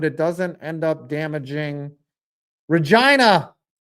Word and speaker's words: Regina: doesn't end up damaging Regina, the city that rhymes with fun.